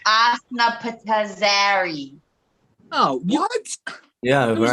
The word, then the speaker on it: Osnapitzari: So it's Asna Patazari. Oh, what? Yeah, It was the right. one you could. How? It's spelled OSNAPITZARI.